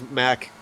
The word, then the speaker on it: Mac: There's a little bit of a tap on Mark Backham from Wolfgang, so obviously anxious to get up there. In fact, I see that Patrick now has Mac Backham, not Mark. I was mispronouncing that.